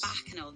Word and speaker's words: Bacchanal: She said the Bacchanal Christmas. Did I say that right, Samuel? Am I pronouncing it right? Bacchanal Christmas? Bacchanal, that's right, okay.